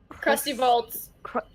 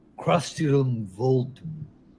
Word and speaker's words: Crustilum Voltum: That's not how it's pronounced. I believe. Maelstrom, didn't you come up with the name? Why don't you tell her? It's Crustilum Voltum.